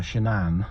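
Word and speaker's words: Shanann: I think um uh shanan uh that's how you pronounce it apparently like Shenanigans um was probably somebody quite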